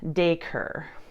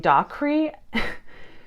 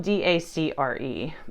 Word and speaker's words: Dacre: And the pronunciation was Dacre. And in my head, I was saying Dacre. So it's spelled D-A-C-R-E.